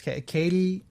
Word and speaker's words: Katee: It's Katie, and it's spelled Katee. So I'm pretty sure it's Katie, or is it Katee? Okay. Like it looks like Katee, but I think it's Katie Sackhoff. Yeah, Sackhoff.